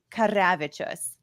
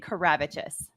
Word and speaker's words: Karavičius: So there's two ways. You can say it the Lithuanian way or like the Americanized way, which is fair. The Lithuanian way would be Karavičius. But if you can't roll your No R's, way in hell. it's totally appropriate to say Karavičius.